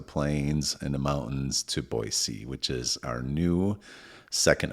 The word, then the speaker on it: Boise: We are in our new studio here in Boise, Idaho. Not Boise, Boise, Idaho.